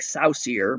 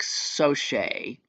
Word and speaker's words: Soche: So, Frank Soche. Looks like Saucier, but it says right here, pronounced Soche.